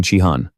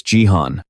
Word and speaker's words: Jihan: The unbeatable Xong Chihan. He pointed at him, intentionally mispronouncing his name as a way to insult him. Song Jihan didn't want to cause trouble and simply replied, "It's Jihan."